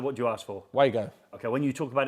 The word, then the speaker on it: Wago: it's Wago. Is that how you say it? You're apparently supposed to pronounce it Vargo. Because that's their name.